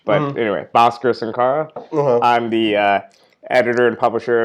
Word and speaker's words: Bhaskar Sunkara: turned at it and can't pronounce the proper Hindi version of my name which is like a like aspirated H but anyway Bhaskar Sankara I'm the editor and